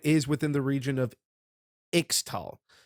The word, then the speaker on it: Ixtal: But a lot of it is within the region of Ixtal. I'm going by the spelling of Ixtal with the American pronunciation. I know I've seen a lot of people saying Ishtal.